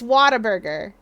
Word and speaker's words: Whataburger: Hey, you're getting Waterburger tonight. I still can't believe that's pronounced like that.